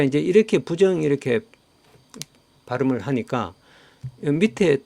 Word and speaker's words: 부정: 불자가 그 뒤에 디귿이 지어이 올 때는음 부로 발음한다 이렇게 돼 있습니다 그래서 부정이 된 것입니다 자 이제 이렇게 부정 이렇게 발음을 하니까 밑에 또 부정이라고 하는 단어가 있습니다 자